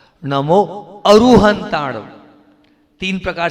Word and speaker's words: अरिहंताणं: ठ नमो ये वाला और नाक से उच्चारण भूलना नहीं कैसे करना है नाक से जीभ दांत तालु कंठ होठ किसी से भी उच्चारण नहीं करना नाक से निकलेगा वो म नहीं है वो अनुस्वार है उसका उच्चारण नाक से ही होता है।